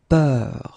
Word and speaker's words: peur: more open, and it's peur. Okay, previously it was bleu, so really, really deep, bleu. This one is more open and it's peur.